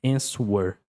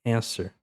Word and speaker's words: answer: Depois answer. Answer. Não é answer aqui é answer.